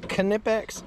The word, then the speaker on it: Knipex: You know that it's pronounced Knipex?